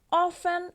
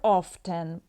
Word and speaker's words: often: no muy frecuentemente often or often both pronunciations are accepted a veces se pronuncia la t a veces no Eso depende ambas están